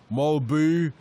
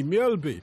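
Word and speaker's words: Mølby: signed for Liverpool and all the commentators vied with each other to find the most bizarre pronunciation of his name. Malbu, Malbo, etc., etc. They should have just come to me. Mjolby. Easy as that.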